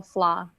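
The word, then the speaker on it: Flaugh: hear me okay yes i'm with uh flaw landscape architect and flaw is spelled f-l-a-u-g-h and can you repeat the beginning of the company the beginning of the name first name flah landscape architect thank you you're welcome michelle lopez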